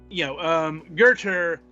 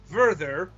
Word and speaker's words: Werther: Whereas in the actual book, Werther, which rhymes with Werther, he ends up committing suicide over his emotions.